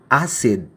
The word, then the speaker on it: acid: Say for example some English words like acid acid A. Yung C doon hindi naman siya pronounced like a K sound. It's pronounced like an s sound.